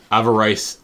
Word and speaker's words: avarice: And then Avarice Amulet. Avarice. Avarice. See? A-V-A, and then rice. It's pronounced avarice. I'm pretty sure it's avarice.